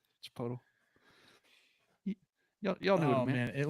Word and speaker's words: Chipotle: they were all hot Chipotle did I say it right didn't that the second one was right Chipotle yall know oh man